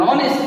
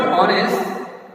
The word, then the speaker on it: honest: An honest boy. Generally, this word honest, which begin with H, but even though it begins with H, generally here the vowel sound is pronounced.